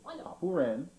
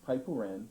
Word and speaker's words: Papuren: Then Papuren, also pronounced paipuren or happuren, which means 8 steps, or 8 consecutive steps.